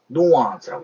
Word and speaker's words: nuance: 근데 영어에서는 이걸 발음기호, 사전을 찾아보시면 발음기호상으로는 뉘앙스라고 표현되어 있는데, 저는 미국인들이 뉘앙스라고 읽는 걸 단 한 번도 본 적이 없어요. 그럼 어떻게 읽어야 되냐? nuance라고 있습니다. nuance.